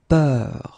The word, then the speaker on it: peur: And then we will have a little bit the same, but it's a bit lighter, more open, and it's peur.